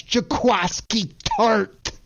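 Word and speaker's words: Jaquiski Tartt: KP, I got to help you with that pronunciation because it's one of the best names in all sports, and that's Jaquiski Tart.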